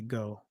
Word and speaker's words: Geaux: That's how we do go, because it's some of the French pronunciations have EAUX. So they'll say go.